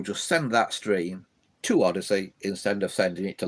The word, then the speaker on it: Odysee: It's called Odyssey, Bills, but it's spelt in a weird way. It's ODYSEE. That's ODYSEE. So it's Odyssey.